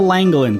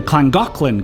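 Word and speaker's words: Llangollen: so this is The langin Canal at least that's how I read it but I learned the Welsh pronounced the double L's as CLA so it's actually pronounced the clangin canal all right this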